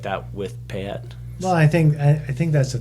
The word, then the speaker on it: Payette: We can't drink that much because everyone's mispronouncing it. Payette, Peyote. You're like, what? It's not that hard. Payette. I guess for us, just it sounds just like it's spelled.